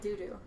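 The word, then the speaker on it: Dudu: right now is called Doo Doo. Just thought everybody deserves a good laugh. Play kid. One of my friends, Elsa, Emma on the chat bought it for me. It's spelled D-U-D-U, so it's doo-doo.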